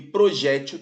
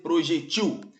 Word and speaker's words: projétil: seu acento gráfico tirado acróbata também pode ser pronunciado acrobata e projétil também pode ser projetil então não é equivocado retirar o acento gráfico